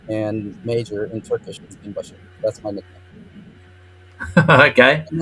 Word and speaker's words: binbaşı: And my father at that time was a major in the army, and major in Turkish is binbaşı.